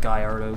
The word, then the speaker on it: Gallardo: the Lamborghini Huracan slash Gallardo, or Gallardo, however you want to pronounce it. I pronounce it Gallardo because that's what I've heard it's been called by multiple people.